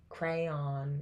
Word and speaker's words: crayon: like a stock image crayon versus crayon crayon is the correct way crayon interesting okay crayon